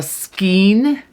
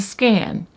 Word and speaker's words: skein: Some people call it a skein, some people call it a skein, and some people call it a scan.